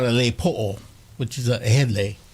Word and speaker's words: po'o: on your head, we call it a lei po'o, which is a head lei. lepo. Po'o, Oo.